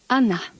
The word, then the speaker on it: Agnetha: I know it's very hard for you to pronounce, but you can say Agnetha or you can say Anna.